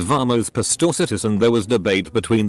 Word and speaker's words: Pastorcitas: I said the soft C is pronounced like an S. An old lady in the group said it was pronounced like the CH in cheese. I said you're thinking of Italian. In Spanish it's pronounced as an S, or in many European Spanish dialects like a th.